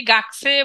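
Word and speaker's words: がくせい: যদি শব্দের মাঝে বসে কু যদি শব্দের মাঝে বসে তখন ক উচ্চারণ করলেও ভুল হবে না আবার আপনি চাইলে কু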